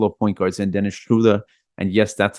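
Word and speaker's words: Schröder: got a couple of point guards and Dennis Schuler and yes that's how you pronounce his last name I did see his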